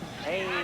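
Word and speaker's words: Antowne: But you spell it A-N-T-O-W-N-E, like Antown.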